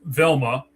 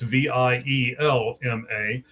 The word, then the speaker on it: Vielma: All right, so the second guy, Jimmy, is Carlos Velma. I believe that's how you say it. It might be Vielma. It's Vielma.